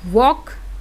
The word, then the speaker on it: walk: Next लिखा है WALK, तो वॉक, इसको वॉल का तो नहीं पढ़ते हो, तो एल लिखा है लेकिन एल क्या हो गया है, साइलेंट हो गया है।